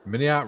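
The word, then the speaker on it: MiniArt: Jim It's, says, I remember, mini art rhymes with multi-part.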